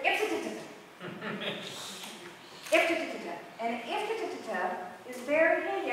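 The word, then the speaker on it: IFTTT: The tool is if, this, then, that. And I pronounce it if-ta-ta-ta.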